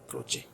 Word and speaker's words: Croce: तो इटालियन और जर्मन जो लैंग्वेज होती है उसमें शब्दों का अलग ही प्रोनाउंसिएशन निकलता है कई बार। जैसे ग्रामसी की आपको स्पेलिंग डिफरेंट मिलेगी और उसका प्रोनाउंसिएशन अलग मिलेगा। तो ये CROCE क्रोचे।